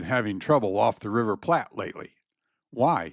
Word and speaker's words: Plate: The Rio de la Plata should never be called the Plat River, pronouncing it as we do the Plat River in Nebraska. If the English form is used at all, it should be called plate, which is so universal